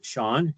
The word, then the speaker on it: Sean: My name is Sean Elliott. My name sounds different than what it's spelled.